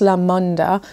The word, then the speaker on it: LaMoonDa: Now I'm told it's pronounced LaMoonDa, which in Spanish means fun, original, amazing.